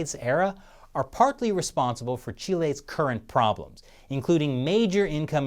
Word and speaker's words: Chile: length of South America's western coast yes it's pronounced Chile and not Chile which coincidentally is also something young Chris Chappell